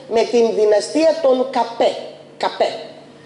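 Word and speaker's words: Capet: Καπέ. Γράφεται με σε, α, πι, ε, τε. Γιατί εμείς τους λέμε καπέτους. Καπέτους, γιατί τους λέμε καπέτους, γιατί στα γαλλικά το τε δεν διαβάζεται.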